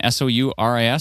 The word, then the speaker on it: Souris: is it Surrey right now? How do you pronounce it again? S-O-U-R-I-S?